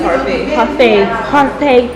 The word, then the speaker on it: parfait: Did I pronounce it right? Yeah, parfait.